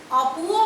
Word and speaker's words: অপু: কিন্তু অনেক সময় দেখা যায় অয়ের উচ্চারণ কিছুটা বিকৃত হয়, অনেকটা ওয়ের মতন উচ্চারণ হয়। তোমাদের বইয়ে 2টো উদাহরণ দেওয়া আছে, অতি, অপু। ওখানে অপুও বলি না, অতিও বলি না, কি বলি? অতি, অপু।